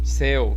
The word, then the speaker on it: céu: Você pronunciou de uma forma aberta, entendeu? Céu, empurrou de novo.